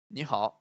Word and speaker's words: 你好: saying it seems that i'm pronouncing the knee not in the third tone are you sure yeah i'm pronouncing it in a second tone i'm saying right have you noticed that nihal correct and the the